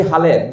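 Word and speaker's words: Halhed: নাতানিয়াল Brassey হালেদ, যাকে ভুল উচ্চারণ অনেকে হেলহেড বলে, সেই হালেদ সাহেব তিনি নিজের নাম বাংলায় হালেদ লিখতেন, হ আকার ল আকার দ।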